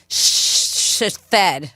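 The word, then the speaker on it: Sihithed: and said an annoyed and condescending tone it's sheded yeah but it's it was spelled like all once but pronounced shed but it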